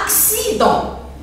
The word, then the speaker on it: accident: Par exemple, accident. Accident. Pourquoi ici j'entends X? X, axi. Pourquoi? Parce que C est suivi de I.